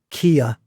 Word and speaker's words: Keir: noticeable to me was she pronounced some words as 2 syllables, which I would pronounce as 1. Yeah. So she said, "We want to make sure," the Labour government, whatever. And she said, "Keir Starmer," as opposed to, I would say, Keir Starmer. So she definite 2 syllables on his name, which was quite an interesting one.